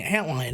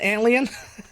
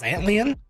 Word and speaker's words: Antlion: know what you're thinking antlion isn't it pronounced alien no I'm dumb enough to think that I'm gonna go with the one that makes me feel better when I say it which is antlion so anyways antlion was